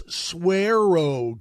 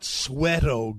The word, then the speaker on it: Suero: You are mispronouncing the name of the product. It's Swearo Gold, not Sweato Gold.